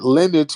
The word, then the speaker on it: lineage: highly educated okay it lineage rhymes with spinach okay all right education